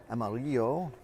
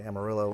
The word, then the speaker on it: Amarillo: Amarillo is that uh it's actually amarillo, the Spanish for yellow. My son, who is in first-year Spanish, made that note to me on our way down. That I was saying it wrong. It was actually amarillo. Uh but obviously folks down here say Amarillo or Amarilla you'll hear as well.